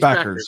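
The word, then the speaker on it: Bueckers: Paige Beckers.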